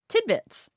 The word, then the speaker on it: tidbits: up the word origin tidbits. Oh, tidbits. Let's get some etymology for tidbits. I noticed that I instinctively say a D sound there, but it's spelled with a T in the middle.